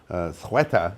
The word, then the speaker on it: Ceuta: Well, when the invasion of Ceuta, as it's now pronounced, down in Spain, or Morocco, I should say, northern Morocco, happened last week, and we all covered it.